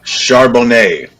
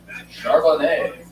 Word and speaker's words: Charbonnet: Zach, how do you pronounce that last name? Charbonnet. Charbonnet.